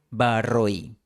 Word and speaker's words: barro y: En la tercera línea, barro y se pronuncia con un diptongo hoy, barroí.